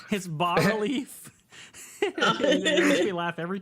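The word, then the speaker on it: bas-relief: it's bas relief.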